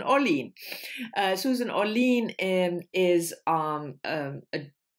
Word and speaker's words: Orlean: realized uh yesterday that i have been pronouncing her name wrong for at least 10 years because i always said susan ollion there you go but it's susan orlean susan orlean is um